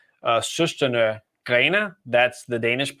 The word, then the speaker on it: Søstrene Grene: So there's a craft and decor retailer called Søstrene Grene. That's the Danish pronunciation.